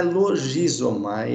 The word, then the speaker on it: logizomai: Logizomai, não é logizomai, é logi, a pronúncia no grego é aqui o que foi transliterado para a letra G, né? É a letra gama no grego, então é logizomai.